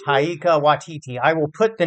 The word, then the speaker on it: Taika Waititi: How do you pronounce his name? I always kind of mix it up. Taika Waititi? Taika Waititi.